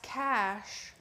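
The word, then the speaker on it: cache: Diana said it's pronounced cash.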